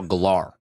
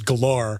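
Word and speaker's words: Gellar: name correctly cuz he always said Sarah Michelle gar yeah and it always pissed me off well no that's actually from an interview that she did where she was like actually the pron the correct pronunciation is galar oh really yeah so he was always like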